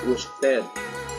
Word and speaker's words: usted: dewasa ada yaitu namanya usted Oke Hussain kalau di diem di berbagai negara yang lainnya bicara bahasa Spanyol terkadang esnya nggak dibaca Jadi mereka bacanya posted